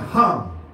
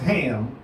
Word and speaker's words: Ham: of Nowak Shem and hum not pronounced ham pronounced hum and japhet okay because